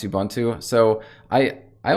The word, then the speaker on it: Ubuntu: told the other day that it's it's like zubuntu but i don't know that i'm ever going